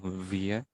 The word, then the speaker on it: wir: Nah, ini juga bacanya ya, wir. Atau Oda, ini juga sama bacanya Oda. Iya, jadi R jangan dibaca ya, pede aja kalau di bahasa Jerman. R-nya jangan dibaca.